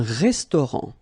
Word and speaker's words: restaurant: Un restaurant. Final T not pronounced. Un restaurant.